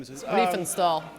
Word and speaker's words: Riefenstahl: I can't pronounce the last name. Riefenstahl.